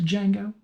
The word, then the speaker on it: Django: I'm gonna get you to Django. D is Silent Hillbilly.